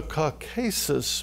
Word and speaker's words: Caucasus: No, it's the Caucasus Mountains. It was mispronounced over here.